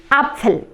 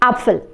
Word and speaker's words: Apfel: A wie Apfel. The first one I will write on the board so that you can have a look at it. A wie Apfel. So we pronounce this word apple, Apfel.